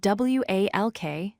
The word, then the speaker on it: walk: Another example is walk. It's spelled W-A-L-K, but we say it as walk. The L is not pronounced.